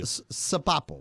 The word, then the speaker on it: Sopapo: I will tell you, Sopapo with Sopapo. Sopapo with an S. with an S. This is the way you're going to pronounce it.